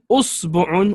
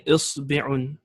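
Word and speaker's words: إصبع: or you can say usbu'un with dhamma, 2 dhammas, or you can say isbi'un with a kasra on the ba. Some ulama, they say there's even 10 different ways of pronouncing it.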